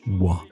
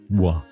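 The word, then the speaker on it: Oingt: Winked, pronounced wa. Yes, wa.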